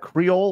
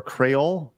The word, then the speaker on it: Creole: yeah hey question uh is that Creole or crolle how do you pronounce it it is it is creole it is creole yes